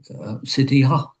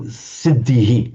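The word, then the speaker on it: सिद्धिः: The normal rule is that where you have the Visarga at the end of a word, end of a sentence, end of verse, and end of a word group, it's pronounced with a shadow vowel. So siddhihi, not siddhiha, siddhihi. It's the same vowel as preceding.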